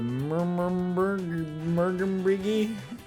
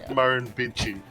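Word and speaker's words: Murrumbidgee: Oh, and that word that you were trying to pronounce there is Marin Bitchi.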